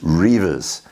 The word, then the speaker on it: Redvers: And his name was probably pronounced Reivers at that time. But let's keep it simple. We'll call him Redvers in this particular point.